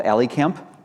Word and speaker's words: A11y Camp: Okay, so thank you for welcoming me to Accessibility Camp, or I understand it's called AliCamp. I've been mispronouncing it all this time.